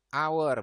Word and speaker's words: hour: isinya iya an ya karena dibacanya our bukan H tapi our huruf hidup I found An umbrella